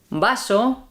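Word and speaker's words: vaso: sound so for example if you see the word v a s o and b e s o the first one is baso and the second one is besso baso we don't make a distinction between B and V yeah yeah mhm I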